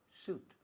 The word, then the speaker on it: suit: Como traje, se escribe sweet. Pero no se dice sweet, se dice suit.